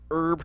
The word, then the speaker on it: herb: with pine nut and herb topping or herb topping depending on the way you pronounce things no one says herb you're right it's like